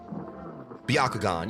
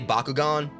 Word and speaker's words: Byakugan: I can pronounce Sharagon and all that, no problem, but... Byakugan. Yeah, I was trying not to say Bakugan.